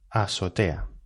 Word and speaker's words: azotea: mal de la azotea azotea va con z con z azotea lo que pasa que los nativos que deseamos es decir que no pronunciamos la zeta pues pronunciamos esta palabra así azotea en azotea la azotea